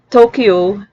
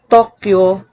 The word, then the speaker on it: Tokyo: in english but toyota the y can also act as a glide thus tokyo which is often pronounced tokyo in english is actually pronounced as tokyo in japanese the n